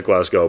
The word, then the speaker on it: Glasgow: half southern accent from America but it is Glasgow but the fact that you say it like